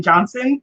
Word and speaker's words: Johnson: the product says people always forget the t in johnson in her last name